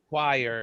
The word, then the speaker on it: choir: Choir. That's how you pronounce.